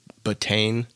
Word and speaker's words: betaine: The other, supplement that can be within these matrix is called, I pronounce it betaine. It's BETAINE.